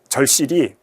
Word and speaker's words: 절실히: 연음은 아까 봤던 것처럼 먹었다가 아니라 먹었다 이렇게 발음을 하게 되는 것이고, 음운 약화는 뭐 예를 들면 절실히 같은 것도 우리가 발음하게 되면 절실히 이렇게 발음을 하게 되면 히읗이 안 들리게 되잖아요.